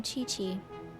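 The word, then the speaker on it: Qiqi: booboo pharmacy i am chi-chi oh chi-chi really that's how you say it well then want you to spell it like chichi like from dragon ball z there's a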